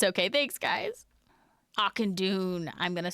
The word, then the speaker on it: Auchindoun: That's how I always pronounce it. It's okay. Thanks, guys. Auchindoun.